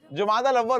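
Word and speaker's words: جمادى الأولى: लफ्ज जो है ना, तलफ्फुज यानी प्रोनाउंस, इसको इस तरह करते हैं जुमादल अव्वल। क्या कहते हैं? जुमादल उला कहते हैं या जुमादल अव्वल कहते हैं? जुमाद होता है ये, जमात नहीं।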